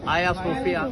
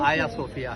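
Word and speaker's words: Hagia Sophia: एंड इट वास अ church of the Greek Orthodox Greek Orthodox church बनाया आयासोफिया उसकी वो जी साइलेंट वो आयासोफिया है तो वो ग्रीक ऑर्थोडॉक्स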